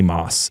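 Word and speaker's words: Motss: And they find this guy, Stanley Moss. It's spelled Motts, but they pronounce it as Moss. The T is silent, apparently. But Stanley Moss.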